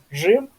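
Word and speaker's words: Rzym: Вот ещё хотел бы добавить, что в польском языке нету мягкой ре. И поэтому везде, где вот в русском языке мягкое ре, у нас в польском будет ж, да? То есть это рим, жим, река, Жека, там.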